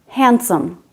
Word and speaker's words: handsome: is in this word it's also silent in handsome in the word sandwich